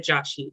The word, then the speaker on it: Joshi: And our guest for this episode is Bhavya Joshi.